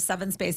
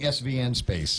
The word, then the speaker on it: Seven Space: Megan, my friend who is the co-founder of Seven Space, it's an all-female platform that. Oh, that's how it's pronounced. I'm such an Seven idiot. Space, I've been saying SVN Space. No, it's Seven Space.